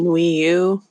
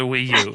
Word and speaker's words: Wii U: to it's the system closest to rhyming with pu and that's the sound of something that stinks and that's the Wii U yeah great ID on